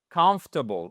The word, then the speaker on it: comfortable: Donc, mettez-moi, s'il vous plaît, l'accentuation sur ces trois premières lettres. Comfortable.